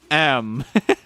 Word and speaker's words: em: Also, it's just pronounced like the letter M. You mean the long dash? It's pronounced M.